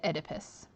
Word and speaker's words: Oedipus: So when you're trying to pronounce this name, basically cut off the O and pronounce it Oedipus and the Sphinx.